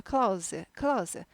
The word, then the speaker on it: Claus: 산타 클로스 아니고 클라우스, Santa Claus, Santa Claus, 즈 발음이 납니다.